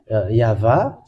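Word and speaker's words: יהוה: O, or some say U, but the original one is V. And I am just answering that for those people who say that there is no V in the Hebrew letter.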